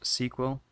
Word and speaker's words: SQL: SQL is pronounced sequel.